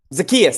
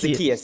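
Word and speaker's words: Zaccheaus: Zacchaeus, that's how you say it. It's Zacchaeus. Yeah, I like Zacchaeus at 3K as a replacement for cash.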